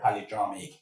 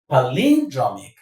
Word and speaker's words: palindromic: But before we get to that, let me stress something real quick about the pronunciation of this word polyramic.